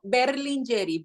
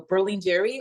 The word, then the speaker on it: Berlingeri: Berlingeri. Berlin like the city, Jerry, as Tom and Jerry. So Berlingeri or Berlingeri if you want to roll your R's.